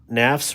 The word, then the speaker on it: Nafs: Nafs rhymes with graphs and laughs.